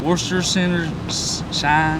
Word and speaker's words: Worcestershire: We also set out to see if anyone actually knows how to pronounce this. Worcestershire Sauce.